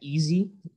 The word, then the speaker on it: EISE: We've called it Project Easy. It's spelled EISE, and it means Project Enhanced Clinical Trial Initiation, Screening, and Enrollment.